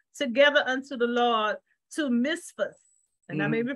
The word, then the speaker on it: Mizpah: And Samuel called the people together unto the Lord to Mizpah. And mm-hmm. I may be pronouncing that wrong. Yeah, Mizpah.